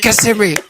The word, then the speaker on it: Kissimmee: He said Kissimmee. He said it right.